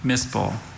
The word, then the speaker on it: mispel: Are there any alternate pronunciations? There's just the one, mispel.